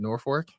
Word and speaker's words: Norfolk: Uh it's it looks like Norfolk, but they pronounce it Norfor.